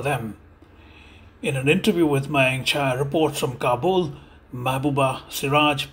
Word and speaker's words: Mayank Chhaya: Seraj, welcome to Mayank Chhaya Reports.